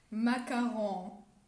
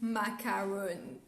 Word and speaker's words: macaron: that trigger us now people saying macaroon i can't stand it i need to listen